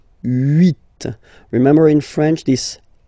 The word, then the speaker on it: huit: Okay, then here final T is pronounced, so huit, huit.